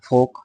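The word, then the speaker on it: folk: একইভাবে ফোল্ক না বলে ফোক, ফোক মানে লোকজন।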